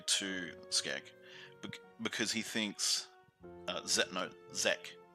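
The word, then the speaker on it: Xec: Skek because he thinks Zek, Z-E-C, I think is how his name is pronounced. X-E-C, Zek.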